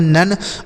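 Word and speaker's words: none: एन से हो जाएगा नो। ओ का उच्चारण अ एन ई से न। इसे पढ़ेंगे नन मतलब होता है कोई नहीं।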